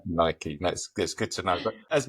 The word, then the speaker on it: Nike: And the other thing that you've cleared up for me as well is how to pronounce the name of that company. Is it Nike? Is it Nike? And you said Nike, so I'm assuming that is the right pronunciation for Nike.